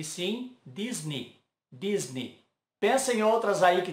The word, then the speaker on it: Disney: E Disney também não é Disney, e sim Disney, Disney.